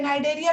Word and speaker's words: Cnidaria: अब देखो इसको हम बोलते हैं बेटा, ये कंफ्यूज मत होना, ये तुम्हारा सी साइलेंट होता है, ठीक है ना, साइलेंट है, नाइडेरिया भी बोलते हैं इसको,